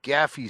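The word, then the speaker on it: Gaderffii: Is that accepted pronunciation? Because a lot of times with these audiobooks, it's really left to the interpretation of the narrator themselves, and there is no right or wrong. But I always call them Gaffi sticks, or I've never done the Gadurfi. But that's kind of how it's spelled, right?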